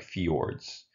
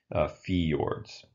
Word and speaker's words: fjords: avian word that the Jay referred like you pronounce it as kind of like a like a II like fjords fjords so that's what that word is and these